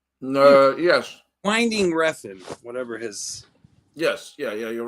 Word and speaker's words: Winding Refn: Winding Refn, whatever his.